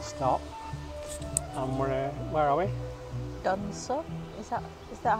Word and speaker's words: Dunsop: Dunsop, is that how you say it?